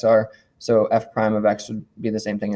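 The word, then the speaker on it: f′(x): The first one I just wrote there was f prime of x is how we pronounce that. This is pronounced, whoops, what happened there? F prime of x is how we say that first one.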